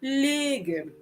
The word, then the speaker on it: légumes: So the E is pronounced a little bit higher.